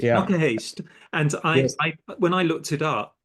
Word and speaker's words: Knokke-Heist: is in a place now now you must pronounce this for me it's in a place called Noah Heist Noah Hast yeah Noah Hast and I when I looked it up because